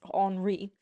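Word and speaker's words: Henri: second or I believe as it is pronounced in France HRI of France he was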